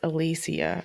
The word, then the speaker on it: Alicia: Well, that's like Alicia Silverstone. She said it's pronounced Alicia, actually.